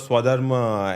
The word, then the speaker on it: Swadharm: The producer of Swadharma Entertainments.